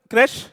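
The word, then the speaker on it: crèche: हो कि what does क्रेशे mean. तो अगर क्रैश जो फैसिलिटी है, इसे क्रेशे भी कहते हैं, कोई लोग क्रैश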